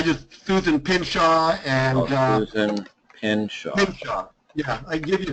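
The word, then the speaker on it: Pynchon: I'm working with Susan Pinshaw in Florida, and I sent her stuff over for a records request.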